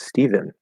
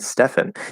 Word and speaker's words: Stephen: way but to me if you're gonna have the name steven it should be spelled with a v because that's a v sound stephen stephen if you're going to